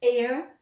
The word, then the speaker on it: heir: wicked witch tried to kill snow white okay heir prince charles is the heir to the throne and air is lovely fresh